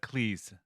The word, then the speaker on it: Cleese: of that he says americans um pronounce his name with a strong ass clic and he prefers it with uh cleese please yeah please yeah how